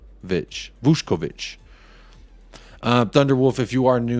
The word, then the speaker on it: Vušković: It says it's pronounced Vušković.